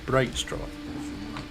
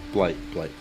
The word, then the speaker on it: Blightstraw: Bavlorna Blightstraw or Brightstraw? No, Blight.